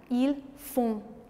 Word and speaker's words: font: Nous faisons, vous faites, ils font. Nasal, font. D'accord? D'ailleurs, on fait un son nasal même avec d'autres verbes. Donc nous parlons un son nasal. On ne prononce pas le N.